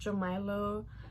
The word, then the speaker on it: Jamila: His name is pronounced Jamilo or Jamilo, whatever. I really don't mind.